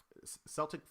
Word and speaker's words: Celtic: fire they were like it's not like the NBA team you say it like Irish so Celtic fire I believe is the way that I'm supposed to pronounce it so I apologize if